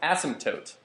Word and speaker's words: asymptote: Asymptote? It's pronounced asymptote.